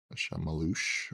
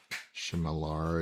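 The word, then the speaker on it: Chmelař: It's like Shamalosh or something, I think is how they. Shamalush or something like that. Like that's how it's spelled, but like it's pronounced completely different. Yaroslav from Czechia. Shemalar is how I would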